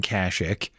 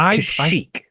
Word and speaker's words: Kashyyyk: I mixed up Endor and Kashyyyk, and and now and you're mispronouncing it. It's Kashyyyk.